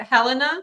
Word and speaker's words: Helena: Is it Helena? Yeah. Is that how you say it?